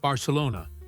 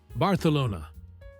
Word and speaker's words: Barcelona: The agent, very patiently, explained that it's pronounced Barcelona, with an S sound. The woman insisted the travel agent back home said, Barcelona.